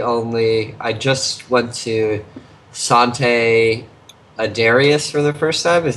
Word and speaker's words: Sante Adarius: Speaking of brewery only, I just went to Sante Adarius for the first time.